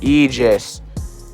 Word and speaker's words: Aegis: But like it's pronounced Aegis.